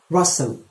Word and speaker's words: rustle: do you see your parents often number five rustle rustle leaves rustled and the summer breeze leaves